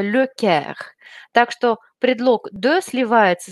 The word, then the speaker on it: le Caire: И, казалось бы, слово «Каир» – это город, но нужно знать, что город Каир произносится с артиклем, это «le Caire».